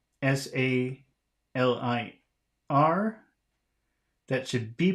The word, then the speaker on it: salir: But number 2, S-A-L-I-R, that should be pronounced salir.